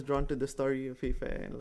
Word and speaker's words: FAYE FAIRE: Pronounced FAYE FAIRE with silent e's.